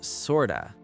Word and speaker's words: sorta: And sort of becomes sorta.